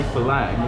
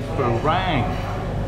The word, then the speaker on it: Farang: Now what I don't get about it, they all say Falang, it's meant to be Farang.